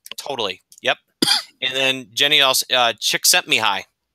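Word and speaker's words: Csikszentmihalyi: And then Jenny also, Chick Sent Me High. Remember that, Mitch? That's how you pronounce his name.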